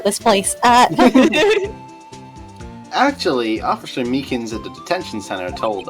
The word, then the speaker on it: Meekins: place uh actually officer Meekins at the detention center told us that poor little doggie poor guy I keep getting his name wrong calling them meekly he told us something